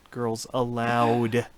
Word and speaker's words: Girls Aloud: It's spelled A-L-O-U-D, but of course, Girls Aloud.